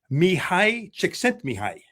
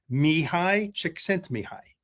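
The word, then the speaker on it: Mihaly Csikszentmihalyi: Finally, some years later, I learned how to pronounce his name, and I'm proud that I can do that. Mihai Csikszentmihalyi. Mihai Csikszentmihalyi.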